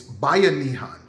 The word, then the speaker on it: Bayanihan: It's Bayanihan.